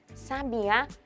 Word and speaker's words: sabiá: sílaba tônica da palavra sabia não tem acento gráfico portanto sua sílaba tônica é a penúltima me ou seja ela é uma palavra paroxítona Já a palavra sabe a quem possui cento tem como sílaba tônica sílaba a ou seja sabiá é uma palavra oxítona e sabe a segue